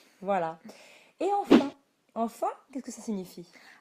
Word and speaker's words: enfin: Et dans ce cas-là, comme vous l'avez peut-être déjà entendu, on peut supprimer la première syllabe de enfin et prononcer simplement enfin. Oui, enfin, je crois.